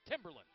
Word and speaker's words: Timberland: is at Andrews or as I was told this morning it's Timberland they like the uh the emphasis on the first syllable or as the president